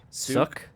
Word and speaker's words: Suk: Souk. How am I supposed to pronounce it? Suk.